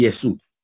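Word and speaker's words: Ἰησοῦς: y Jesús y Jesús acuérdense que les dije que la combinación o micron yuxilon bien la combinación o micronutsun produce un sonido unísono verdad de una sola vocal que es la como la u en español y es súper en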